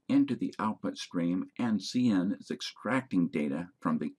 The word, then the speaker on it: cin: They're pronounced cout and cin, not count or sin.